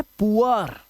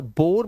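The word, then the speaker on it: poor: आर अगर आएगा तो डबल ओ का जो उच्चारण है वो उआ करना है आपको क्या करना है उआ याद रखना अब देखो यहां पर ये है पुअर यह है पुअर अब इसे या बोर मत पढ़ लेना।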